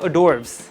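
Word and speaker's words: hors d'oeuvres: और उसको वैसे बोलते हैं अडोर्ब्स। अडोर्ब्स होता है एज से स्टार्ट होता है। एज साइलेंट होता है।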